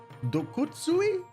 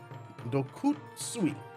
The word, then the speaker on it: Dokutsui: Dokutsuri. Dokutsui. There's no R in there, Joe. Why are you pronouncing an R?